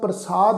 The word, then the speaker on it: प्रसाद: शरणागति कर प्रसाद ये जिहड़ा शब्द है इनू प्रसाद उच्चारण करांगे। इनू सस्से पैर बिंदी लगा के प्रसाद शब्द उच्चारण नहीं करना।